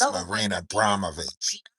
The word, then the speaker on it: Marina Abramović: It's Marina Abramović.